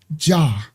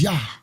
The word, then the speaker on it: Jah: in the in the in the King James it says in Psalms say my name jah and there is no J in Hebrew that was Yah okay is Yah all right so that's